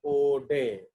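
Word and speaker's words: Oudet: तो आप लोगों के लिए जो ये नाम ज्यादा important है, that is called outdet. So actually it is pronounced as Ode.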